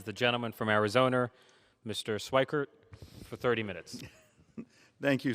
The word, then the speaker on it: Schweikert: the chair recognizes the gentleman from arizona mr schweikert for 30 minutes thank you speaker pro tem um and you pronounced it correct and i have one of